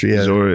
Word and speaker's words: Zoroastrian: Zoroastrian, yeah.